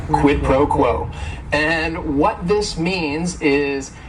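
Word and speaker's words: quid pro quo: here quidd proquo and it is three words word is only one syllable and if if you're saying it together the stress is is kind of on that first word and that last word quit proquo and what this means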